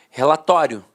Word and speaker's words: relatório: Então, antigamente, todo mundo falava a pronúncia paroxítona terminada em ditongo. Falava assim, ó, relatório, relatório. A penúltima sílaba era a sílaba mais forte e a última, de fato, perdia a força.